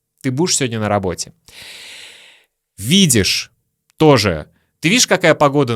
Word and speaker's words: видишь: Видишь тоже. Ты видишь, какая погода на улице? Мы произносим видишь как виш.